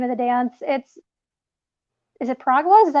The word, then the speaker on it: piragua: Is it Piragua? Is that how you say it? Piragua?